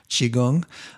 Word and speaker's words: qigong: at are tai chi and qigong so qigong is spelled q-i and then g-o-n-g qigong those are two you may want to explore